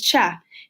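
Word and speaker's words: chat: cat in French is cha it is spelled c h8 e but we do not pronounce the T at the end of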